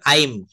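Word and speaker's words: I'm: আমরা সংক্ষেপে বলবো আই অ্যাম, কিন্তু এটা শর্ট ফর্মে বলতে হবে আইম। আম, এটা উচ্চারণ হবে আইম অথবা আম।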